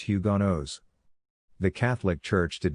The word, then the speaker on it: Huguenots: the jarrett brothers were french protestant huguenots pronounced hugonos the catholic church did